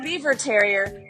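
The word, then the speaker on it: Biewer Terrier: Pronounced Beaver Terrier, these tri-colored pint-sized cuties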